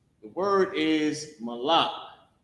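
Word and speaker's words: מָלַךְ: And the word is malak. The word is malak. Ma, la, and the character ka connected. Malak.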